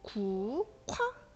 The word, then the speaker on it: 국화: 와 발음을 하게 되는데, 기억하고 히읗이 맞붙게 되죠. 이럴 때 크로 바뀌게 된다. 그래서 국화 이렇게 발음하면 됩니다.